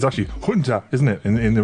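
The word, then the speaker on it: junta: Because they can't pron they don't pronounce the J sound. The pron don't like it's you know military junter. It's actually Hunter, isn't it?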